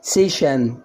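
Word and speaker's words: session: تيشو تيشو يعني نسيج جلسه ادي الاس اي او جه قبلها ايه حرف الاس برض حرف ساكن صح يبقى الكلمه ايه سيشن سيشن سيشن سيشن سيشن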